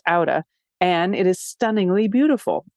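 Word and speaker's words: Átta: It's spelled A-T-T-A, pronounced Auda, and it is stunningly beautiful.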